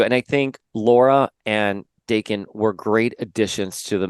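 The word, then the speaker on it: Daken: you can have Laura Wolverine, you can have Dakin Wolverine, and that would look so. Do you say Dakin or Dakin?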